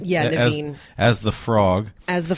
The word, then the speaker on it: Naveen: Yeah, Naveen.